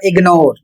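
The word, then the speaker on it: ignore: और इसका उच्चारण होगा इग्नोर और यहां पर दूसरा शब्द है इग्नोरेंस इग्नोर तो यहां पर देखिए जी का जो उच्चारण हो रहा है वह ग के रूप में हो रहा है और दूसरा शब्द है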